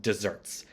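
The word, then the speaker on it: deserts: related concept of Just Desserts and dessert there is spelled like desert with One S but it is pronounced dessert like chocolate cake so make sure that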